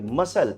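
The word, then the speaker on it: muscle: अब आप इधर देखिए मसल। मसल वर्ड में सी का यूज़ ही नहीं करते हैं। मसल पढ़ते हैं विदाउट सी।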